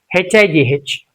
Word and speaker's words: high: G H is silent at the end of the word and when preceded by I, Au, O. What are the examples? H I G H. So I is there. Now it's silent. It's not H. Don't say H. It's high. And it's I again can